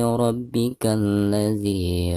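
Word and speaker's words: ربك الذي: Dihukumi alif lam syamsiyah karena ada alif lam berhadapan dengan salah satu huruf syamsiyah. Maka cara membaca alif lamnya itu harus diabaikan atau tidak dibaca ya. Jadi dari bacaan K langsung ke la yang ada di depannya ya.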